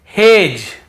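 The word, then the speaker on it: hedge: फिर देखिए हेज और वेज यहां पर भी डी को हम नहीं पढ़ रहे हैं।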